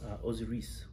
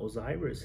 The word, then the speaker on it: Osiris: something Egyptian, you know, like we have our own pronunciation to it, so we say Isis, Osiris. It's not Osiris, it's not Isis or whatever.